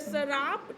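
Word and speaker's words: Tsarap: हिमाचल प्रदेश ठीक है तो शराब टी साइलेंट हो जाएगा शराब चू कंजर्वेशन रिजर्व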